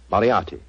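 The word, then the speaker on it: Moriarty: I'll have to begin calling it the way it looks m o r i a r t y mariati mariati I shall remember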